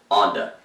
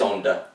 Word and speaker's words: Onda: Most who see it written want to incorrectly pronounce it Onda, but it is Onda, per my daughter, a Spanish major, language major at OU.